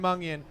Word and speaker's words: Mungion: you got Mungion.